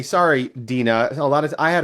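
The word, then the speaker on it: Deana: All right, Deanna. Not Deanna. Dina. Dina. D E A N A. Sorry, Dina.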